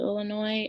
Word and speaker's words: Illinois: Illinois, Springfield, Illinois. The S is silent. The S is silent. Springfield, the S is, you can hear it. Springfield, Illinois, IL.